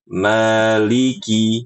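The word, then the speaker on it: مالك: Jadi Ibu kalau baca Maliki itu Maliki ada ada lengkungan di situ. Ada kayak gimana saya jelasinnya ya. ya karena dialeknya seperti itu. Nah, yang benar adalah Mali li biasa Maliki seperti itu.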